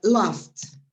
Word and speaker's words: laughed: Fixed, laughed. This is another one, okay? Here we have the pronunciation of the verb in present is laugh. If you put it in the past, you pronounce a T, laughed.